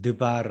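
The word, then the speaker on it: דְּבַר: 형성된 단어가이 연계형 단어입니다 다바르 하멜 그러면 발음하기가 힘들죠 그래서 그것을 드바르 하멜 이렇게 발음해 주는 거예요 그 법칙이 저금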